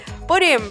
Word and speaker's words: pudim: Pudim, pronounced something like munching in Brazil, is a word that was imported into Portuguese directly from the English word pudding.